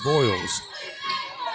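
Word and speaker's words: Vils: in for Wolf County how you you pronounce it I pronounced it VES voils voils okay v i l s voils preach now gets it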